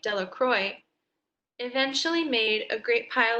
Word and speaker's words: Delacroix: Bobby and Harry Jones and Dickie Delacroix, the villagers pronounced his name Delacroix, eventually made a great pile of stones in